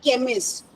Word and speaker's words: chemist: In the word like chemist, what is the sound of c h? K.